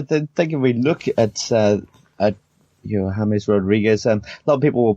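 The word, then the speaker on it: James Rodríguez: And Bryce, I'm glad you embraced the Spanish element there and went from calling him James to James Rodriguez. You got to drop off those Anglophile pronunciations and just get on. It's James Rodriguez.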